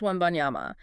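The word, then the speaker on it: Wembanyama: Pronounced Webbyama.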